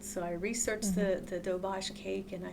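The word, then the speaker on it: Doberge: his phone and it's spelled Durge, but it's pronounced Dobbage. It originated in Louisiana. interesting. And I said, "Well, um, let me research it." So, I researched the the Dobage cake and I said, "I I can make it."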